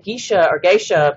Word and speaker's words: Geisha: The varietal is with the I, and it's pronounced Geisha varietal.